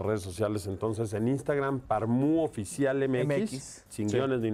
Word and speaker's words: Parmú: Bueno, en Facebook estamos como Parmu, con acento en la U.